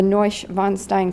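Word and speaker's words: Neuschwanstein: see the Notre Dame Cathedral the Louvre the neusch von Stein castle that's how you pronounce it I looked it up um dacao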